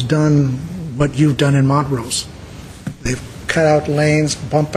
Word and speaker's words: Montrose: Is it Montrose or Montrose? Montrose. Mr.